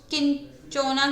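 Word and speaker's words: Cinchona: है चिंचोना की, उस किंचोना की जो भी इसको प्रोनाउंसिएशन इसका किंचोना होगा, तो बार्क ऑफ किंचोना जो है उससे क्या होता है, क्यूनाइन का एक्सट्रैक्शन होता है।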